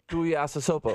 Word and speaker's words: Tuiasosopo: How do you say it? Tuiasosopo. How do you know they say it that way in Samoa? Because I watched CNN. Maybe in Samoa they go... You know, they might make all kinds of weird noises. If you want to be jealous that I could pronounce Tuiasosopo, that's just fine.